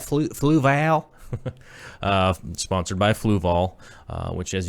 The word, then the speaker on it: Fluval: Sponsored by Flavel. Flavel, how do you say that? Fluval.